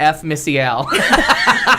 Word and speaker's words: F. Missy Al: During the whole wine fiasco, it changed my name to F. Missy Al. Yes. I like it. Appropriate. I like it. The F is silent. It's European.